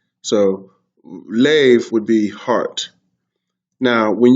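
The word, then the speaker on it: לב: That is how you say heart, lav. And I think it's even like lave, because this would be a seti instead of the shva, right? And there would be no kamatz.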